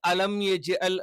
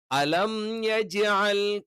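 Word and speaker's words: أَلَمْ يَجْعَلْ: വന്നാലും നമ്മൾ എന്ത് ചെയ്യണം ആ മീമിനെ കറക്റ്റ് ആയിട്ട് ഉച്ചരിക്കണം അപ്പൊ കറക്റ്റ് ആയിട്ട് ഉച്ചരിക്കണം എന്ന് പറഞ്ഞാൽ അത് കംപ്ലീറ്റ് ആണ് അല്ലെങ്കിൽ അലം യജ്ൽ എന്നുള്ളത് അലം യജ്ൽ ഒക്കെ ആയി പോകും അപ്പൊ മീം കറക്റ്റ് ആയിട്ട് ഉച്ചരിച്ചിട്ടില്ല എങ്കിൽ മീമും യാവും കൂടി ചേർന്നിട്ട് അത് രണ്ടുമല്ലാത്ത ഒരു അക്ഷരം വരും അലംജൽ കൈതഹും കൈതഹും ഞാൻ നേരത്തെ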